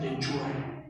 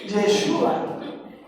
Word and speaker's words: Yeshua: me hace absurdo eso no le dicen ni yeshua le dicen yesua chalón Entonces si no sabemos dijera alguien pronunciar para qué le hacemos el cuento no puede decir shalom diga rapaz de Dios